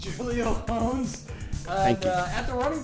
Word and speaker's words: Julio Jones: Julio Jones is kind of sliding. It's pronounced Julio Jones. Julio Jones.